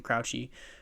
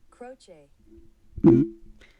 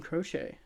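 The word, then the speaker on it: Croce: it doesn't do it let's get Google to do it proch really croch Jim crochet okay well I bought it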